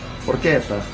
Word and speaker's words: porchetta: CH is pronounced ka. Porchetta. Nope.